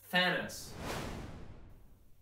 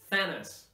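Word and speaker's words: Thanos: Marvel Universe is Tannis let's practice the th sound you know how important it is and how difficult it is sometimes to say thinners remember to say it properly every time you have these two letters together the th have this sound fat fat feed thought through fat thinnest remember this is not on your lip you should not see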